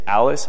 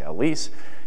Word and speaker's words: ALICE: group and always actually the pronunciation of this is unclear some people say Alice others say Elise depends where are you from but anyway there's